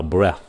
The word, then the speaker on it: breath: Ví dụ cái chữ này phát âm là breath.